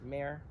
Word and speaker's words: Mare: I was just going to say, do you have any other versions besides Mare? Some people will spell it differently, M-A-R-E.